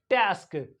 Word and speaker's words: task: बस्क एंड टी ए एस के this is टास्क टास्क so this is the pronunciation of ए